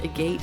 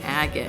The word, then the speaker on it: Agate: I don't know, I called Agate Village a gate, and I'm still kind of bashful about it. I finished my recording, and my husband, who was in the room, was like, I think it's pronounced Agate, and I was like, oh, I know. Or he didn't even say it. He was like, I think you pronounced that village name wrong, and I was like, oh, it's Agate, isn't it?